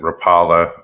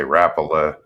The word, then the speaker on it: Rapala: Some pronounce it Rapala. Some say Rapala.